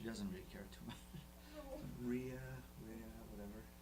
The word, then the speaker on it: Rea: I speak a little bit of Spanish, so I try to pronounce it the right way. But she's used to hear it all sorts of different ways. As long as it's not Ree. I think Ria, she's fine.